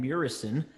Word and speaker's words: Muresan: on first of all I will correct you it's Morrison so I know I'm